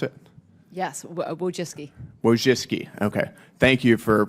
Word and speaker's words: Wojcicki: Miss Wojcinski, is that how you pronounce it? Yes, Wojcicki.